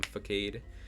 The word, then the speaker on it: Facade: So I bring in Incineroar to take a hefty chunk from Facade. I know it's pronounced Facade. I just like to say Facade.